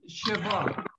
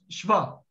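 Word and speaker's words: שְׁוָא: It is not shiva. It is shva.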